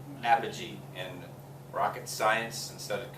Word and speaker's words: apogee: The fancy term for this is called apogee.